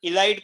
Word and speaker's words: ylide: Pronunciation इलाइड करो, इसका pronunciation और स्पेलिंग है YLIDE।